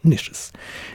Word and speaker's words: niches: It is not a niche, let's be refined, let's pronounce it properly, like real proper refined men do. Niches. Niches here and there contain skulls of all shapes, and heads preserved in various stages of dissolution.